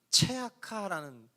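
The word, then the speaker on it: צְעָקָה: 마찬가지로 옳은 일이라는 단어는 체다카라는 뜻인데 울부짖음이라는 단어는 체아카라는 단어예요. 체다카, 체아카, 역시 비슷한 발음의 라임을 연결하고 있죠.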